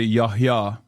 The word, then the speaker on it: Yahya: I mean, I don't know how you say it in Arabic, but in Turkish, Yahya is a Turkish name as well. You say Yahya.